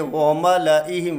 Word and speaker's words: وَمَلَئِهِمْ: آپ لام کے ساتھ جو زائد الف ہے اسے کسی حالت میں بھی نہ وقفاً نہ وصلاً، یہ کسی حالت میں بھی نہیں پڑھا جائے گا، بلکہ ہم اسے پڑھیں گے وَمَلَئِهِمْ، واو زبر وا، میم زبر ما، لام زبر لا، وَمَالَ، لام الف زبر لا بالکل نہیں پڑھا جائے گا، وَمَلَئِهِمْ۔ آگے ہے قرآن کریم